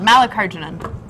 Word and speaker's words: Mallikarjunan: It's pronounced just like it's spelled, Mallikarjunan.